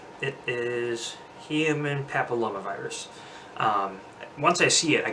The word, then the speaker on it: papillomavirus: gonna pick you about the pronunciation it is human papilloma virus once I see it I can pronounce it